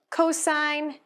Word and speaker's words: cosine: Cosine is just written as COS, stands for cosine, again, long I.